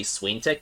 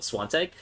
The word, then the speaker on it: Swantek: I have to wait every time I'm trying to say his name because I want to say Swaintek, but Swantek.